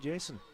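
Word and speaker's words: Yeison: close this game out that's Jason spelled ye i s o n yes and I had to make I did did check the pronunciation that the chers were nice enough to provide us and he does pronounce it Jason that's ball three three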